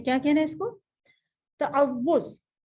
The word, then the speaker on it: تعوذ: تعوذ. تعوذ. ٹھیک ہے, واو کے اوپر تشدید بھی ہے اور پیش بھی ہے. اس کو تعوذ نہیں کہنا ہے, تعوذ.